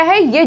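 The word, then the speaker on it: high: जीएच silent होता है जब वो किसी वाउल के बाद आता है। देखिए यहाँ पे क्या है? ये जीएच लिखा हुआ है और यहाँ पे आई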